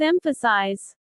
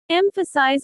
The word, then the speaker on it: emphasize: Mistake number two, confusing emphasis with emphasize. Remember, emphasis is a noun. Emphasize or emphasize as a verb.